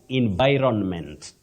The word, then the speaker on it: environment: environment in in by environment in environment that n is not silent but you begin with the sounding in then vironment environment wow that's a